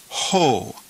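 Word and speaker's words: ὁ: breathing Mark over time rough breathing so we pronounce this word ho and it means the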